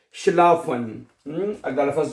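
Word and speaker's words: schlafen: अच्छा उसके बाद अगला लफज़ है शलाफन। हम अगला लफज़ जो है शलाफ़न। ये तो बहुत आसान है ना? एस सी एच शला। शलाफ़न। क्या बनेगा? शलाफन हैं।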